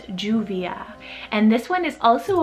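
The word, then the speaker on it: Lluvia: juvia spelled l-l-u-v-i-a now when you put two l's together it pronounces as a j so it's juvia and this one is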